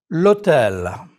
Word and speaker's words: l'hôtel: The H muet, the mute H is not pronounced, but you link it to the article as though it were a vowel. L'hôtel.